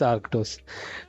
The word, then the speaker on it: Arctos: partner which is which I won't even try to pronounce because I'm great Aros is is that it I won't try so I guess you must it's Aros it's it's arctos uh so um so